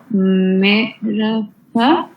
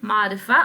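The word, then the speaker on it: معرفة: An example of ma'rafa or ma'raf. How do you say ma'raf? Ma'rifa and nakara.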